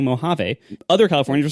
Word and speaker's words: Mojave: were doing it wrong it is it is Mojave he was right but but it seems like Californians can't even agree on their own pronunciations CU like other Californians were saying Mojave other Californians were saying Mojave they're not n they're not California natives they're